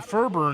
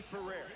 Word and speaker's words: Ferrer: Ferber in the game. Jose A. Ferrer. Martin Mujic. Ferrer is how Earl Fuller pronounced it, so that's how we'll pronounce it from now on.